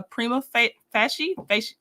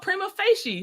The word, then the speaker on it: prima facie: Conflicting evidence presents a jury question not subject to review on appeal, provided the state's evidence establishes a prima facie I think it's fash Oh my gosh.